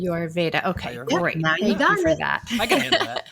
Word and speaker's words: Ayurveda: It's close. There's a little trick that I teach people. It's Ayurveda. So it's like Ayurveda. Ayurveda.